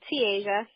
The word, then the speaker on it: Te'Asia: My name is, like she said, TeAsias. It's pronounced like T, then the continent Asia.